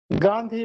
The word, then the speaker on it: گاندھی: اور اس کے بعد گاندھی بر وزن آندھی، گاندھی کی لکھی تھی.